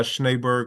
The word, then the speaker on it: Schneberg: For me, it's won't you be my schneighbor. So, Angie, that's how you pronounce my last name.